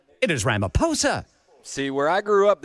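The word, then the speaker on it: Ramaphosa: Well, brother Chris, unbeknownst to this said newsman, apparently the H is silent in the last name of the South African president. So, it is not Ramoposa, it is Ramaposa.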